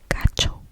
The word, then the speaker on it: gacho: you are going to be using the term gacho, gacho, gacho, or the feminine gacha, gacha, gacha. And it's spelled G A C H O.